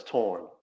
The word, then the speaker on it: Torraine: Um the way it's pronounced is torren. And the way I tell people it's like torren like foreign. Same pronunciation.